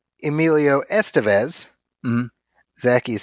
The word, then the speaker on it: Estevez: So it would put the emphasis on the second syllable, Estevez.